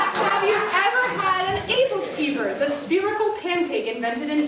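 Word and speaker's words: æbleskiver: Start with the first syllable. Abel-Skyper. Abel-Skyper? No. Abel? Yup. Abel-Skyper. No. Oh my god, Abel-Skeeper. Yeah!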